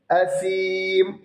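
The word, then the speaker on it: عظيم: വ്യക്തമാക്കി വെളിവാക്കി ഉച്ചരിക്കും അസീം സ ആണ് സ അത് സ ആണ് പ്രത്യേകം ശ്രദ്ധിക്കണം സീൻ ഉച്ചാരണം വരരുത് അസീം എന്ന് വരരുത് അസീം സ ആണ് പ്രത്യേകം ശ്രദ്ധിക്കണം ഇല്ലെങ്കിൽ തെറ്റിപ്പോകും അസീം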